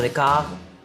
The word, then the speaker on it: Descartes: quién te lo deletreo d e s c a r t e s se pronuncia dec de francés abundancia de letras primer mundo dec dio